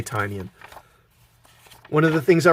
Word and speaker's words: Tynion: Now, one of the things I really liked about Tynion's run, I think it's pronounced Tynion. I've heard it pronounced both ways, but I'm going to say Tynion.